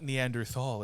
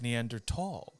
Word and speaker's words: Neanderthal: if you will yes not neanderthal it's neanderthal oh yeah i love so